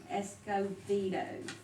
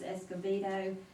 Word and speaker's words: Escobedo: first one is brenda escobedo and she she pronounces the b with the v that's the veto and she is requesting